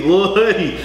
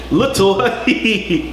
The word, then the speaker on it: Lil Huddy: They pronounce every syllable. It's Lil Baby, Lil Huddy, Little Huddy.